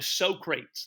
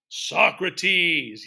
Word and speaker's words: Socrates: All right, a lot of people call him Socrates. That's not the way you pronounce it. This one you need to pronounce the way it's pronounced. His name is Socrates.